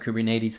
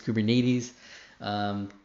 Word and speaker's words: Kubernetes: AIDS I say Kate's again it's the tomato tomahto kubernetes kubernetes k-8 si I call